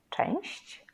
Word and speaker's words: część: Compare these two. Część, one syllable. Części, części, two syllables.